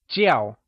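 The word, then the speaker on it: 叫: Jiào is pronounced in the falling tone, also known as the fourth tone Lets hear you say Jiào!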